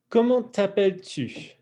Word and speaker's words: comment t'appelles-tu: Et puis, comment t'appelles-tu? Comment t'appelles-tu? And again, if you really bring your lips out for that last word, comment t'appelles-tu? It boosts your pronunciation quite a bit.